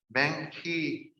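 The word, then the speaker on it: 孟子: And Meng Qi is, for some reason, in English is usually called Mencius, which isn't how you pronounce it even close in Chinese, but Meng Qi was born in 372.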